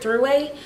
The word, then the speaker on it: Thruway: Exit 8, this is known as Airport Thruway. And it's not three-way, spelled like T-H-R-U or T-H-U-R, something like that. Kind of like Thursday, but throughway.